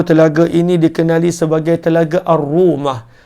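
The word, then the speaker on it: رومة: Telaga uthman ataupun Telaga ar-rumah kata penulis buku Telaga ini dikenali sebagai Telaga ar-rumah ar-rumah ejaan dia alif lam ro wau mim dengan marbutah arrumah arrumah ni bukanlah rumah macam rumah kita tidak namanya dalam bahasa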